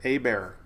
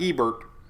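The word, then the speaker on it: Hebert: hurricane trivia for you a bear not Ebert sounds like I'm talking about sherbet ice cream it's a bear I think the H is silent a bear BJ and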